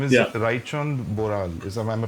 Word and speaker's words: Raichand Boral: yeah, his name is Yeah, Raichand Boral. Am I pronouncing yeah, it correct? yeah. Right chant Boral, yeah.